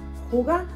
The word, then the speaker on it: hygge: un libro que me acabo de leer de Hyuga. Se escribe así, pero se pronuncia en danés Hyuga.